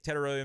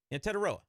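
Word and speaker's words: Tetairoa: Reach a little bit and take Teteroya McMillan.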